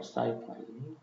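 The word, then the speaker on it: sci-fi: 썼냐면 사이언스 픽션 사파라 사이파이 줄여서 영어로 할 때는 이렇게 사이파 이렇게 발음으로 이렇게 사이파이 철자도 이렇게 쓰고 한국식은 SF SF 이거 이제 이제 한국 식이고 영어 식은 사이파이 사이파이 그러니까 철자 발음으로 하는게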